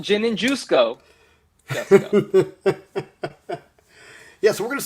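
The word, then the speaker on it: Jusko: conversation with Joe that his last name is pronounced just go not juice go the way I always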